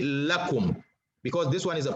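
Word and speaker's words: لكم: little suli okay so anytime it's attached to a pronoun it's pronounced la but if it's attached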